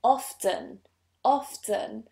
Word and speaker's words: often: asked this question because I pronounce this word with a T and I say often often and a lot of